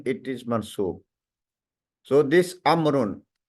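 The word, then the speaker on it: عمرو: The proper noun amrun is written with a vowel which is not pronounced. We have added an extra vowel with the proper noun of amrun. Why we did this? This vowel we don't pronounce. This is done to differentiate it from the umaru. Amrun and umaru, they look similar. So that's why we added an extra vowel in the amrun.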